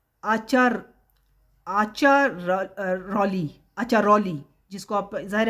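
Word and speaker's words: Acciaroli: अचरौली जिसको आप जाहिर है इटालियन लैंग्वेज में इसका प्रोनाउंसिएशन है अचरौली ठीक है A double C आई ए आर ओ एल आई एचली इस जगह पर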